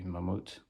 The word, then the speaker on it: Mammoet: it this is Mammoth if we pronounce it in Dutch I guess it would be mamut but uh it's based on